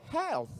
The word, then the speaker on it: health: Tapi kalau thh itu dibaca tsa. Contohnya health.